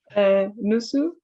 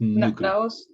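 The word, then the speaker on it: 누구: No, it sounds like the word nude, but it's not nude. Nusu? No, it's nugu.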